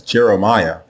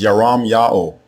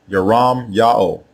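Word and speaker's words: ירמיהו: Both forms are pronounced the same way. There are not two different ways to say the prophet's name. The way you say his name is Yaram Ya'o. Yaram Ya'o.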